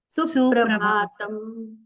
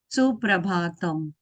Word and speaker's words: सुप्रभातम: तस्तु सततम मम सुप्रभातम अभी ये जो सुप्रभातम में आपका दीर्घ उच्चारण हो रहा है उसको सिर्फ ह्रस्व करना है। सुप्रभातम सुप्रभातम सुप्रभातम सुप्रभातम क्योंकि आगे प्र ये जो संयुक्त अक्षर है इसके लिए यहां पर थोड़ा हम आघात करके कहते हैं ना इसलिए सुप्रभातम